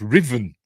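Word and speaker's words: Ruthven: I think ruen but it's pronounced Riven it's like that name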